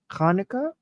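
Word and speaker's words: Hanukkah: New Year to everyone oh it's Hanukah actually it's not Hanukah you're right we should have been saying that's the right way pronouncing it kanuka yeah okay okay I'll do that because when it's a CH like right right okay okay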